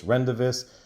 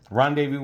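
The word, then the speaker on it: Rendezvous: guys for teaching me I used to call this rendis it took a long time to beat into my head from you guys in the comments to finally I got the right pronunciation all right I'm put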